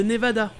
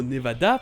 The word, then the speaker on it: Nevada: il le prononcera : avec le 1er se prononçant "A". C'est le "A" qu'on a en français et dans les langues latines comme l'espagnol d'où le mot "nevada" provient.